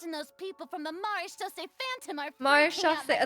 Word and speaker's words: Maréchaussée: Oh, and I'm sure Nouvellette and those people from the Maréchaussée Phantom are freaking out Maréchaussée, that's how you next to pronounce them, it? too. I was always saying Marchus, which is definitely not right.